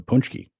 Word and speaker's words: paczki: Or the punchki. Yeah, I love punchkis. I do want some punchki. Spell it.